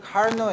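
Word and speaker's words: Carnot: 같은 과정을 거치는 엔진을 카르노 엔진이라고 그래요. 프랑스 사람이니까 이 뒤에 발음을 T 발음 안 하죠.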